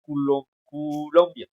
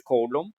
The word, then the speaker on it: Coulomb: Bueno, esto también se puede españolizar, le podemos decir Colombia, pero en el idioma original es Coulomb. Se escribe Coulomb y se lee Coulomb, ¿no?